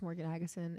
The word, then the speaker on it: Morgen Agesen: Yeah, you can follow me on Instagram um under my name, just Morgan Aguson. It's M O R Gen A G- Sen. And um because my name is spelled so weird, it's you know it's that